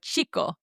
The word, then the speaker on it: chico: Then finally, we had the CH sound, which we know we pronounce like the ch in churt, like the word chico, the word for boy.